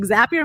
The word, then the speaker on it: Zapier: is it zapier and it's like zapier makes you happier and that's how you remember it before people did that